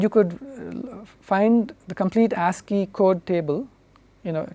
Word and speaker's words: ASCII: something called the ASC III code or the ASCII code this is typically pronounced ASCII ASCII stands the American Standard Code